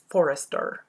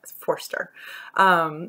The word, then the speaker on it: Forster: I always want to add a syllable and make it Forrester, but Forster, which I started reading